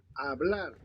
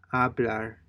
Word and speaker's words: hablar: hablar, hablar, Notice that the H is not pronounced. So it just sounds with like hablar, hablar, right?